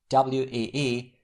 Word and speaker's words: oui: This letter combination is pronounced like WEE in the English word weed. We.